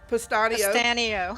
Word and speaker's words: Pustanio: We have my friend Alyne, and I always say your name wrong. Pustanio.